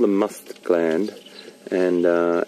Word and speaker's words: musth: It's called the musth gland, and that's spelled M-U-S-T-H, M-U-S-T-H, musth, and it's where the